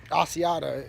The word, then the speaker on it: Asiata: lucky in round five to get Isaiah k-- Asiata is how you say the last name to